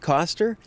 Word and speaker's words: Koster: okay hey say your name for me and spell it for me Oh my name is coaster Kos ter Los Angeles California I'm an aerial